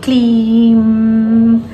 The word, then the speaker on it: क्लीम: ठीक है, तो क्लीम को जब उच्चारण करेंगे तो खींचेंगे क्लीम, यहाँ पर होठों पर जो लास्ट होता है यही होती है वाइब्रेशन।